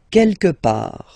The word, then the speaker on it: quelque part: Quelque part. Don't pronounce the final T. Quelque part. Quelque part.